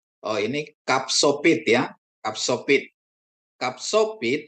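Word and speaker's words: ך: Kapsopit atau KH kapsopit di akhir kata seperti Anda membunyikan kata bak ya bisa ch bisa ya transitinya KH atau CH jadi kup ya kapit dan kup.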